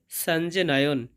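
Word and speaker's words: সঞ্জনয়ন্: এরপর আছে সঞ্জনয়ন। এখানে যুক্ত বর্ণটা হবে ইয় জ এবং ইয় প্রথম থাকার কারণে অর্ধেক নয়ের মতো সাউন্ড আসবে। সন জ নয়ন, সঞ্জ নয়ন।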